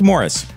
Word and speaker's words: Maurice: children Barry Robin and Morris Gibb yeah that third brother the one whose name looks like Maurice it's actually pronounced Morris anyway they were all